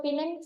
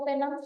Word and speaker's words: Penang: Sudah bagus pun pelayanan rumah sakit contoh Murni Teguh tadi masih banyak kok masyarakat kita yang memilih berobat ke Pinang atau Penang. Bacanya Pinang ya.